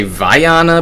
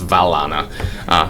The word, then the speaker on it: Falana: I keep wanting to say Viana, pronounce the double L like a Y, but in Italian you pronounce the double L, so it's Falana.